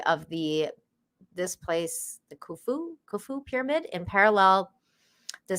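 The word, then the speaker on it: Khufu: It's pronounced kufu.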